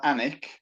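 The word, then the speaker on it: Alnwick: i c k pronounced anik so you don't pronounce the l in effect and if you google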